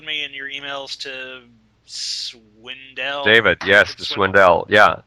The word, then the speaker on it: Swindell: Who I want to call David Swindle because he's on the other side but I'll respect Oh god. No. No. I will respectfully pronounce his name correctly.